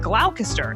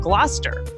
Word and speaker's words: Gloucester: Like originally, I said glalcaster instead of Gloucester.